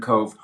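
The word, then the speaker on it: Cobh: Titanic was Queenstown, Now Cove. Queenstown, Yeah. which is now called Cove. Kobh is how it's spelled.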